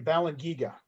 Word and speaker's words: Balangiga: in knowing about the and i'm sure i'm mispronouncing this but the um balance giga massacre is that ah the balance you balan giga yes they want to